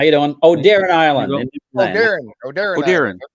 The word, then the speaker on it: Oderin: Oderin. Yeah, like a deer in the headlights. Oderin, it's Oderin.